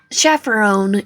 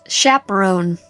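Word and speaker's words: chaperone: morning lion I reckon I should chaffer own you two unworry kids it's pronounced chaperon hot too hot to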